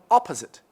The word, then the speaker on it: opposite: We have opposite. Opposite. Okay. Opposite on the first also.